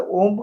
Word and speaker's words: ओम: और अ उ म को अगर हम प्रॉपर उच्चारण करें, अकार उकार मकार का, तो हमारी जो मूलाधार के अंदर एनर्जी है उसको हम ऊपर सहस्त्रार तक पहुंचा सकते हैं।